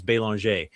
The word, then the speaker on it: Belanger: name is Belanger, but the proper French pronunciation is Belanger.